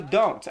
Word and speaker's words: don't: E uma coisa também que eu falei ontem é que geralmente você não pronuncia esse T do don't.